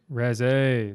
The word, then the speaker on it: Reze: How do you pronounce it? The Reza or what is that? Reza? Reze.